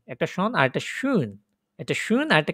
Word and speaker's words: schön: schon আর schön, একটা schon আর একটা schön, একটা schön আর একটা কি উপরটা কি schon আর একটা নিচেরটা কি schön। একটু umlaut schön বলার সময় কি ওই যে umlaut করেন যে ওইভাবে umlaut প্রনাউন্সিয়েশন করবেন।